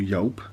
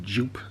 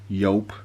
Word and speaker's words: Joop!: we're having a review on you go or yelp as it should be said what a lot of people do especially in the uk call it jup so for that reason i'm going to call